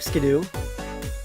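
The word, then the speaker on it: Skiddo: do we can skip skidoo I mean all this we can say you pronounce it ski-doo that's apparently how you pronounce can do makes no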